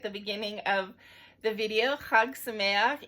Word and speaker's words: chag: beginning of the video hugs in English is spelled c-h-a-g so when you see that and don't know how to pronounce it it's not chag it's hug um and samayak ends with